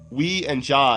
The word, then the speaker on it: Ouija: But he's saying Ouija boards, but it's like we and ja.